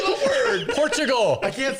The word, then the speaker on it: Portugal: Say porch. Porch. Like a front porch.